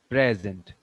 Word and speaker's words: present: If a word is noun or adjective, the stress will be on the first syllable. Present, like this.